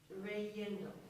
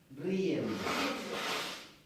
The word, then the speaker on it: riendo: Reyendo. Huh? Reyendo. Riendo.